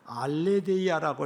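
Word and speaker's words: ἀλήθεια: 문자적으로 문자적으로 살펴볼 때 진리라는 말은 헬라어로 알레데이아라고 이렇게 발음을 하는데 변하지 않는 사실 숨겨지지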